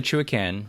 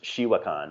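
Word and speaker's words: Chewaucan: So that's a Chuacan, right? River. Yeah, and I always pronounce it wrong. So I think it's actually pronounced Shiwakan or Chuacan. Shiwakan.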